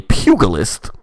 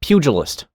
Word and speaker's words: pugilist: venera she is a pugilist which is uh another version of the monk subject sorry what the g is soft pugilist pugilist ah see my